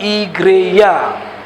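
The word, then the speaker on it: igreja: kata gereja berasal dari bahasa Portugis yaitu kata si greja diucapkan igreya Ya Sedangkan kata igreya berasal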